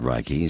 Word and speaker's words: Reiki: Some pronounce it Reiki, some pronounce it Reiki. Depends what part of the world you're in. It's like Correct. tomato.